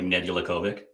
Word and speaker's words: Nedeljkovic: Nedeljkovic? That's the one. Yeah, that's the one. Yeah. So you want to say it like phonetically, it'd be like Nedeljkovic.